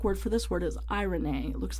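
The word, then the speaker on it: εἰρήνη: peace the Greek word for this word is AI Renee looks like Irene but it's pronounced I Renee now this is the Greek Greek equivalent to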